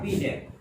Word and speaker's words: Binet: Alfred बिनेट, BINET, लेकिन उच्चारण होगा बिनेट।